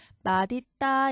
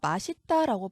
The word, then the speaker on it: 맛있다: 앞에 나온 규정을 적용하면 자 맛있다는 잇의 실질적인 뜻이 있어요 그래서 시옷의 대표음 디귿으로 바뀐 다음에 맞 있다 이렇게 해야 이게 원칙적으로 맞는 발음이 하지만 현실에서 우리가 맛있다라고 자주 말하죠 그래서 이것도 인정 자 이거 원칙은 아니지만 인정하자로도 발음할 수 있다 했으니까 틀린 발음 아니에요 그다음에 멋 있다도 마찬가지죠